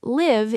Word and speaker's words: live: The adjective live has a long I sound. Live rhymes with five.